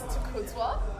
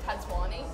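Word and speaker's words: Takudzwa: ever heard um well my actual name is towa and I had this library teacher that used to called me tatani and I'm just like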